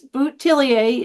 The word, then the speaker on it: Bouthillier: is sort of funny there's several variations depending on where you live so it's botier is the French version